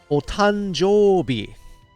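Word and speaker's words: お誕生日: Otanjobi. Otanjobi. You just have to practice it, Kunin. Otanjobi. Just like I'm saying it. O tan jo bi with a long O here.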